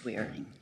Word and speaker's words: Waring: wearing judge wearing yes J weighty wearing is how you pronounce it yeah thank you yeah